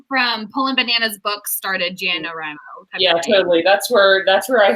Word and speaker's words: NaNoWriMo: Yeah, NaNoWriMo. it's NaNoWriMo, or for Natalia, NaNoWriMo.